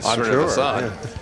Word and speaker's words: Srinivasan: And Pranav Srinivasan, and that's exactly how you pronounce it, Srinivasan, sure, 4 assists on the season.